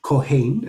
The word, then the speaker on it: Kohen: So we have the word Kohen at the top, or Kohen, as it's pronounced in Sephardic Hebrew.